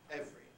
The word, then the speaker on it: every: once have been every because nowadays the pronunciation every seems very artificial it's very constant formation compression and normal pronunciation nowadays is every every day everyone but i think